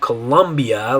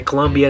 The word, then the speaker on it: Colombia: So in Spanish, instead of Colombia, like you say in English, you say Colombia. In Spanish, you're going to say Colombia, Colombia.